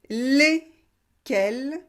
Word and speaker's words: lesquels: Et faites bien la différence entre le masculin singulier et le masculin pluriel. Masculin singulier, le, quel, pluriel, les, quel. lequel, lesquels.